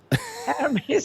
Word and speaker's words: Hermes: if it's if you would pronounce it Hermes or Hermes Hermes unless you want to refer to the scarves the scarves right